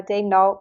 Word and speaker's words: Daigneault: how are we we are pronouncing it Mark de n like as the Thunder sent out or are we going with the with the French pronunciation I think we're sticking with Mark uh Day N that's how he pronounces it that's how prey pronounces it so